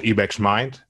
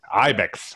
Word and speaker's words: Ibex Minds: director and co-founder of ebeck's mind i don't know if i'm pronouncing ebeck's mind right but it's an organization ibex ibex okay it's my dutch accent so ibex minds it's